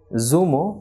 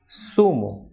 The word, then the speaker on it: zumo: unlike english for example the first one is not zumo but it is sumo so like in english